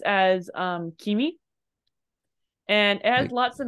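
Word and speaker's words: 君: is this guy which on its own is pronounced as um Kimi and it has lots of meanings your most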